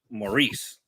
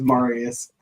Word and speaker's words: Marius: Maurice. It's Marius.